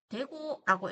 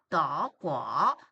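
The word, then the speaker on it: 德: 자, 그래서 독일은 대구라고 읽으시면 안 되고요. 더, 발음 조심해 주시면 되겠습니다.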